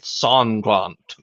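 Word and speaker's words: Sanglant: too and i'm like every time it says his name in the book it specifies they pronounced it songkwant it's like it's it's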